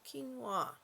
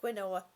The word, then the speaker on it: quinoa: it keep Queen up came to clean the quinoa and I'm like what you mean of a pronouncing it all this time wrong no wonder